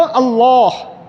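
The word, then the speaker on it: الله: কারণ নাম হলো আল্লাহ। নাম কি? আল্লাহ। লাম সাদ্দাযুক্ত লাম আলিফ মানে খাড়া জবর, এরপরে হায়ের মাখরাজ হলো এখানে কণ্ঠনালীর নিচের অংশ।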